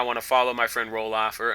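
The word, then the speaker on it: Ralof: my friend Roloff, or am I mispronouncing his name? I think I am. I think it's R A L Of. So, I'd be Rolof. Well, anyway, I'm going to call him Roloff and let all the grammar Nazis rage at me. It's not Rolled off. That's not how you pronounce it, Turkey.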